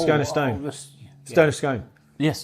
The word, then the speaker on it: Scone: Stone of Scone. Yes, scone or scoon or scone. What? Anyway. To rhyme? Goon, I thought. Yeah, but to rhyme with stone, I'm going to go with Scone.